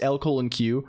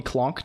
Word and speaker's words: LCOLONQ: Well, no, it's pronounced LCOLONQ. People call me Colonq typically. I guess it's also LCOLONQ. That's the character. The lore is the channel name is LCOLONQ. The character is LCOLONQ, like LLLL Colonq.